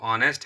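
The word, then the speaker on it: honest: है ऑनेस्ट है ना, इसका जो प्रोनाउंसिएशन है वो ऑनेस्ट है, इसलिए यहाँ पर ये वॉवेल साउंड है, वॉवेल साउंड है, इसलिए यहाँ पर हम लोग एन का यूज करेंगे।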